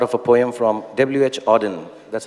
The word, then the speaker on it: Auden: it's a part of a poem from WH Auden that's how you pronounce it so I wish you first a